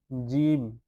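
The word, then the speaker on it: جيم: তিন নক্তা এরপরটি হচ্ছে জিম জিমের মধ্যখানে এক নক্তা। এটার নাম হচ্ছে জিম। শক্তভাবে বলতে হবে। শক্ত করে বলতে হবে। হালকাভাবে বললে হবে না। শুদ্ধভাবে জিম।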